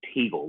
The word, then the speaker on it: Teagle: say your last name it is teagle like like the bird but with the letter t in the front do you think of